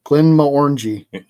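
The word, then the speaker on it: Glenmorangie: She says it's pronounced like a fruit.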